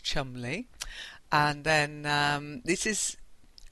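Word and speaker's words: Cholmondeley: Okay, so John Mandi is actually pronounced chumly.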